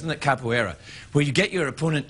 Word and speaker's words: capoeira: schooled in the brazilian martial art known as capoeira that's how it's pronounced and that capoeira where you get your opponent to submu submut